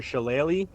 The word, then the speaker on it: shillelagh: Your shillelagh.